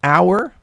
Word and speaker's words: hour: like in the word hour now hour actually starts with an h but it's silent an hour you don't pronounce the